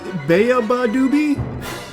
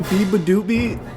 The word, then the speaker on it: Beabadoobee: Beaabadoobie. Not Baoobie.